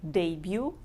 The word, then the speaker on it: debut: By the way, it's pronounced like debut without T at the end.